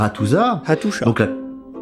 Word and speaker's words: Hattusa: Et dans des archives en terre cuite à Hattusa, Hattusha. Donc là. À tes souhaits ? Non, on prononce Hattusha.